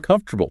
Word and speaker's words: comfortable: Tech Technically it's four syllables, right? Comfortable, right? But a native speaker drops an entire syllable and just smashes the consonants together saying comfortable.